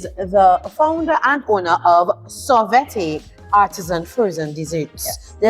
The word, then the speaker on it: Sorvete: She is the founder and owner of Sorvete, Artisan frozen desserts. Yes. Did I pronounce that properly? Perfect. Thank you, because Perfect. a lot of people say Sorvete and I don't know what that is.